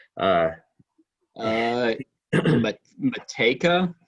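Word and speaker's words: Matejka: name uh uh but mateka yeah i'm assuming that jay is silent he's or he's a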